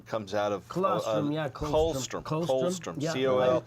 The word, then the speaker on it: colostrum: Comes out of Colostrum, yeah, colostrum. colostrum, Colostrum, yeah. I used to pronounce it. COLSTRUM, colostrum, and that What's is that?